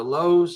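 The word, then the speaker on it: Lowe: The Lows are they're not brothers, by the way, but the Lows are back. Uh, you know, they are pronounced differently, yeah. low and loud.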